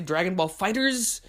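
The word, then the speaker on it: Dragon Ball FighterZ: the end of Fighters, so I either want to say Dragon Ball Fighters, or not that, that's the correct way to say it.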